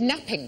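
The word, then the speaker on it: knapping: no but you're right it begins with a silent k when we made early tools what do we make them out of Flint napping napping napping yes Flint napping it seems to be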